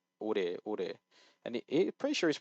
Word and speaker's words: 오래: I don't know if he actually thought he said ole, but ore.